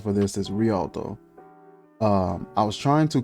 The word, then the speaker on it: Rialto: beautiful and lastly i want to say the pronunciation for this is rialto um i was trying to contact them for